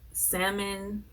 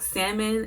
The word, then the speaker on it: salmon: But like, I don't even like salmon. I always want to say salmon, but it's like it's not the L. The L is silent. So I don't like salmon, and I don't like tilapia.